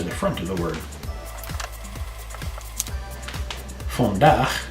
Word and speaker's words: vandaag: Vandaag, spelled just a little bit differently. Vandaag means today. Remember to pronounce your double A, not aw. So, vandaag, and pronounce your V like an F.